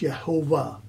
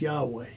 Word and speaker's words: Yahweh: Some say it's Yehovah. Others say it's Yahweh. My own understanding is the weight of evidence leads me to believe it is Yahweh.